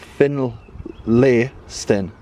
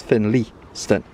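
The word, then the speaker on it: Finlaystone: Um, he said it's called Finl- lay-sten. So, but the English pronunciation is Finlay-sten.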